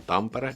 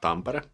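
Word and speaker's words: Tampere: when there was this NHL games held in pampara and there were interview interviewing this one's NHL player American they pronounced that tambara where the city where the game was held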